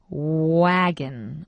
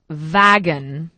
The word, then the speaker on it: wagon: that's very important because first of all we say wagon wagon not vagon okay wagon okay okay